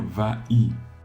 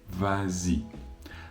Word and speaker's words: vas-y: dirait vas-y justement si on enlève le S comme l'exception le dit on va dire va y et va y c'est difficile à prononcer donc on rajoute ce S pour créer la liaison vas-y la même chose avec